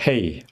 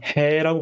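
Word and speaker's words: He: 그 다음에 헤이. 제가 해라고 발음하지 않고 헤이라고 발음하는데요. 해라고 발음하셔도 됩니다.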